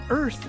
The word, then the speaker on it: Irth: The app is called Earth, which is spelled like the word birth, but we dropped the B for bias, so it's IRTH.